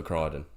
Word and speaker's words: Crichton: Wyden for Crichton. it rhymes.